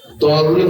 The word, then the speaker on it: তাওয়াজ্জুহ: সূরা ফাতিহা কি তাওয়াজ্জুহ হবে নাকি জওয়াজ্জুহ হবে? অন্তস্থ জ বাংলা অক্ষর, দ নয়। দ এরকম কোন অক্ষর আরবিতে নেই যেটা দ দিয়ে উচ্চারণ দেখাতে হবে, অন্তস্থ জ দিয়ে দেখাতে হবে। এখন কার কেমন উচ্চারণ কমবেশ সেটা ভিন্ন কথা, কিন্তু বাংলা অক্ষর হচ্ছে অন্তস্থ জ, দ নয়। চলেন।